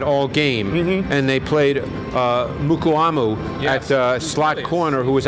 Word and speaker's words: Mukuamu: Mukuamu.